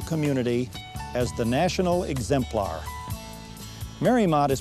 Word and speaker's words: Mariemont: by the architectural community as the national exemplar Mary Maude is pronounced Mary Maude and was named after Mary Emery's estate in